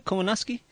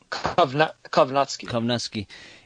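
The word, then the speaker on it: Kownacki: Kowalski, but you know, how do you pronounce the name? Kowalski? Kovnatsky.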